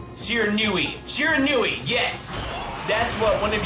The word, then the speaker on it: Shiranui: but I will try my best to always pronounce it Shiranui from now on.